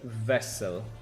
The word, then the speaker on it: Vessel: My name is pronounced Vessel. Ah, Vessel, because you are German then. German, like the Weiss beer.